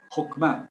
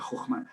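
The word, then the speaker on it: חכמה: H mau eh más bien hokma haciendo sonar la h y entonces llegaríamos a la primera de abajo a la izquierda, Jokma.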